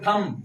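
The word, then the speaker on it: thumb: होता है अंगूठा तो टी ह यू एम थंब थंब पे रुक रहा है की नहीं रुक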